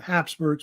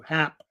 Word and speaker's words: Habsburg: of course, of the Habsburgs. But the Habsburgs, they say the name Habsburg. It's spelled different ways. You'll see it spelled with a P, also Hap, like HAP, Habsburgs.